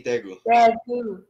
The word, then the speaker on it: Daegu: How do you say Daegu? Daegu. We say Daegu.